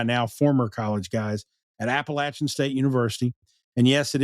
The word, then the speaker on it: Appalachian: And they're I think they're a bunch of college guys, or probably by now former college guys at Appalachian State University. And yes, it is pronounced Appalachian, God damn it.